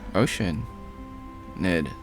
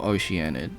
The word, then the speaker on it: Oceanid: Oh, Ocean. Ned. Or Oceanid, depending how you say it.